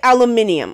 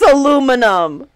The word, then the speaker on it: aluminium: cool I will never say aluminium okay I don't want to ever say aluminium it's aluminum that is fact aluminum aluminum alum inium why would you want to say something that's so hard to pronounce it's not hard to pronounce it's just aluminium it it sounds like a